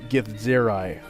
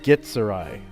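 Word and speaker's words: githzerai: the coast in in the videos they're all pronouncing it gift zero but originally like when the race was created it was pronounced get sir I just GI t - sir - I gets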